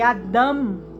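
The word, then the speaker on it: אדם: e eu aprendi que Adam que é como se fala Adão em hebraico significa humanidade e que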